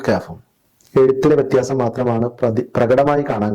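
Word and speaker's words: كاف: അതിന്റെ ഉച്ചാരണം ഒരു താഴ്ന്ന സ്വരമാണ്.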